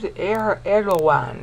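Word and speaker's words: Erdoğan: Guy named Erdogan, they call him. I would call it Erdogan, but they on TV they call him, they pronounce the G like a W.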